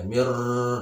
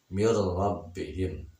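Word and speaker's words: مِن رَّبِّهِم: lam dan rok mirrobbihim jangan membacanya mirror Nah itu salah Jadi yang betul adalah ketika nun mati bertemu dengan Robert masjid maka dibacanya langsung tidak ditemukan mirrobbihim yang kedua yo yo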